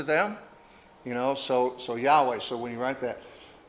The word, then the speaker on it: Yahweh: How do you say that, Chris? Yahweh. Yahweh.